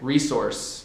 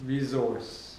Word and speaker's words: resource: different for you okay resource resource more of a z sound Z instead of how about adult